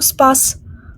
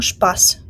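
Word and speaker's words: Spaß: пополудню спорт звертаємо увагу читається не спорт ашпор СП оце поєднання в німецькій мові завжди читається як шпшпо звучить дуже дивно я розумію але ми маємо це приймати так само як і шпас Тобто ми не читаємо Спас а читаємо шпас і як ви бачите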